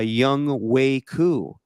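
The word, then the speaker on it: Younghoe Koo: And then they got a tremendous game-winning field goal by Young Wei Koo.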